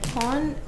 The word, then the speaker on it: POM: And pon is a popular mandarin orange juice in Japan. And it's written up here, P-O-M, but it's pronounced pon, like with an N.